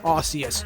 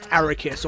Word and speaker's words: Arceus: this joke now look I know it's pronounced Arceus not aricus or however I said it and and you know